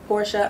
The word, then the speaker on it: Portia: facebook um but instagram twitter and tick tock porsche underscore fox that's with two x's i'm gonna spell it at p o r t i a